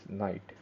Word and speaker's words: knight: So the next piece we talk about is knight. So some people call it as horse or some other words, but in chess terms, we should call this piece as knight. Knight. K is silent, knight.